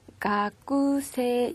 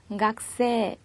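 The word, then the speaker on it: がくせい: 발음에 주의 하셔야 되는데요 학생 이라는 뜻의 단어인 각 3는 요 쓰기는 가꾸 3 이라고 쓰지만 발음은 각 쎄 각 3 와 같이 해주셔야 한다는 점 기억해두세요 다음 단어 입니다 이에 2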